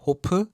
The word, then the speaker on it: 호프: In Korean, Hof is pronounced Hopu.